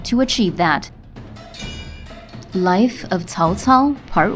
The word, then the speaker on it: Cao Cao: Many folks pronounce it Cao Cao. But since when was this ancient Chinese warlord double-dairy? If you say Cao Cao, then you're saying it wrong. Now, the actual way to say this is Cao Cao, Cao Cao, Cao Cao.